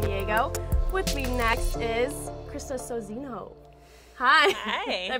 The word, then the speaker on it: Sozinho: With me next is Krista Sozinho. Hi. Hi. Did I pronounce that right?